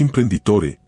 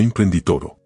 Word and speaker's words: imprenditore: Y en italiano es imprenditore, no imprenditoro.